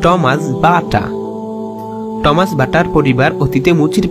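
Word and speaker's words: Tomáš Baťa: Check ভাষায় উচ্চারণ Thomas বাটা।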